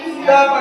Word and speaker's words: the: शब्द लिखा जाता है, तो जब उसका उच्चारण करते समय वोवेल साउंड आए तो हम दी पढ़ते हैं।